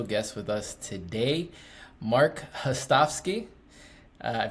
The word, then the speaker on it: Hostovsky: And we have a special guest with us today, Marc Hostovsky. I pronounced it right?